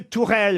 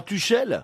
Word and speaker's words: Tuchel: Non, justement, ça se prononce pas Tuchel. Ah, parce que ça Ça s'écrit s'écrit Tuchel, Tourelle. on est en France. Ça s'écrit Tuchel. C'est H en allemand, c'est R. Exactement. Voilà. Et U, c'est OU.